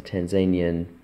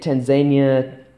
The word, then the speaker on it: Tanzania: the Kenyan shilling is the same as the Tanzanian. Shilling. You can say Tanzania, Tanzania, there's lots of different ways on how to pronounce it.